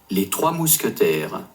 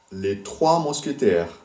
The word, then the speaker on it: Les Trois Mousquetaires: Les Trois Mousquetaires. Les Trois Mousquetaires.